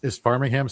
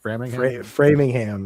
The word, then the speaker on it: Framingham: So is Farmingham still Farmingham, or am I saying that incorrectly? Framingham? Framingham, yes. Framingham.